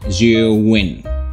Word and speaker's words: Zhiyun: Yap, emang gitu bacanya, Zwiin.